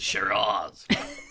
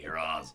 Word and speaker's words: Shiraz: Well, it's Australia, so you have to pronounce it Shiraz. Don't you? You have to do that kind of thing, Shiraz.